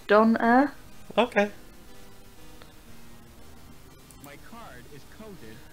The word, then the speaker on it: Donair: Donair Uh-oh. is the Canadian way to spell it, and it's pronounced Donair.